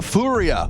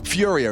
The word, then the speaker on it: FURIA: MP9 they're doing the fua or Furia if you want to say it correctly you make sure you pronounce all those letters yeah every single one